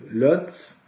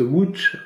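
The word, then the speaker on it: Łódź: la ville polonaise donc lot alors qu'ils se prononcent gooch en polonais donc c'est l'autre là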